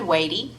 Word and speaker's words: Watie: Stand Watie. Watie. That's the way I have been told to pronounce it.